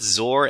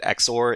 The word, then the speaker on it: XOR: so I guess um both zor and exor can they sound they both sound pretty cool but uh I I do understand that exor is the official pronunciation for this but I like saying zor because uh zor is one syllable and exor is to but I I wonder